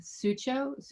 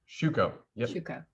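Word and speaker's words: Schüco: brand which is uh sucho i'm mispronouncing that i'm sure shuco okay um and supplier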